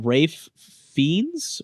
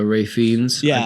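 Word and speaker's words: Ralph Fiennes: that though like uh Rafe fiends right is that how you pronounce his name Voldemort uh yeah uh Ray fiends yeah he uh he plays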